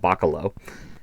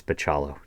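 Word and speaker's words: Bachalo: know it's like that I know it's not baccalo but it's like Piccolo I think maybe it's pachalo he told me he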